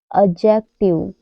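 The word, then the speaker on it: adjective: silent रहता है जैसे एडजेक्टिव एडजेक्टिव में डी के बाद जे आया हुआ है तो यहां पर डी साइलेंट रहेगा ए डी जे यू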